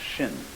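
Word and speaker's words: 心: Chinese mind is um this word pronounced shin and shin is here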